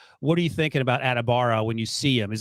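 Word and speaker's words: Adebawore: a bad thing I would imagine right no adibara is how you pronounce his last name okay thank you uh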